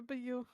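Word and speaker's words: beau: I have made plenty of basil pizzas for your beu. Mhm. Yeah. I think if if you're thinking of the word b e a u I think it's pronounced b.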